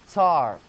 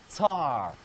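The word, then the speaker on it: tsar: the way you spell it because it is pronounced tar the old way of spelling it is Cy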